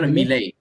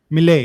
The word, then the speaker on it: Milei: Javier Milei. Milei, yeah, Javier Milei.